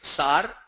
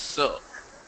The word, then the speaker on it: sir: Like I told you, we all in AP, everybody says sar, but actually it is sir.